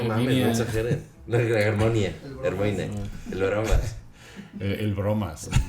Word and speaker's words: Hermione: No, o sea, sí dices Hermione. Jolie, pero... La Hermione le dicen Herminia, güey. No mames, Herminia. no exageren. No, Hermione.